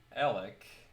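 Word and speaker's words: Elyk: I pronounce it like Alec, just like Kyle backwards.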